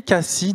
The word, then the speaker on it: Kaci: On se retrouve maintenant avec Cassi, donc je prononce bien, pas d'erreur.